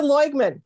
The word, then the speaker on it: Loigman: So Lynda Loigman, did I say it right?